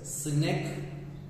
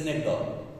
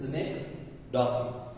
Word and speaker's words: synecdoche: It is pronounced as synecdoche. Okay, or even the people say synecdoche. It is synecdoche.